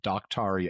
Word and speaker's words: Daktari: on this place called Daktari Alpha. And they spell it like the word doctor with an I on the end of it. Daktari. With an A and an I.